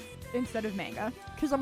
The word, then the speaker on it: manga: I feel like I'm going mozzarella when I say manga instead of manga. Because I'm like, in American English, it's manga. And if I'm saying manga, it's because I'm pronouncing it Japanese.